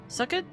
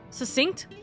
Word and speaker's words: succinct: A most uh scrutinic uh wait sucket. Wait, hold on. Susten. Wait, what the hell do you How do you say this word? Succinct.